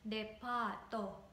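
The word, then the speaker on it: デパート: So you have to elongate A. So it's depa-to, not depa-to, depa-to, no.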